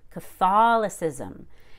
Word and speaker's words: Catholicism: catholicism then we stress that short o fall catholicism and then the ca becomes k it's reduced